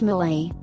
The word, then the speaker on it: mole: claim to be the original home of mul pronounced Malay a rich sauce popular in Mexican cooking there